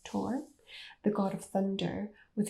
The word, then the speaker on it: Thor: of the norse gods thor although i think it's supposed to be pronounced tor the god of thunder